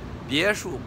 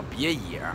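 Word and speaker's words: 别墅: 别墅啊，别墅不认识啊，就把那事儿念成叫别野啊，开玩笑啊。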